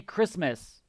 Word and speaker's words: Christmas: with halloween yeah yes you don't pronounce the t's chris miss no t